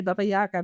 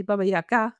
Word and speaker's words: Baba Yaga: teachings from Baba Yaga, as you correctly pronounce it in Russian. We say Baba Yaga, but actually Baba Yaga in Russian.